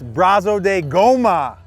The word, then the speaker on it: Brazo de Goma: i'm here with craig stem also known as braso de goma gomez i said it right you said it